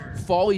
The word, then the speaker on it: Foley: Folly, spelled Phally, but you pronounce it Folly.